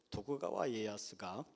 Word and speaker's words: 도쿠가와 이에야스: 일본의 전국 시대를 평정한 사람은 수단과 방법을 가리지 않고 재주가 많았던 도요토미 히데요시가 아니고, 성질 급한 오다 노부나가가 아니고, 덕천가강이라고 배워서 저는 발음이 자꾸 헷갈리는데 도쿠가와 이에야스가 결국 인내함으로 일본을 평정했죠.